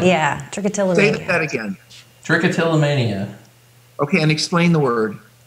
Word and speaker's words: trichotillomania: word trick to anemia trick what does that trichotillomania yeah again trichotillomania okay and explain the word I don't know